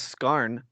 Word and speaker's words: Skarn: the main villain is skarn like michael scar like and it's spelled the same way like it's michael it's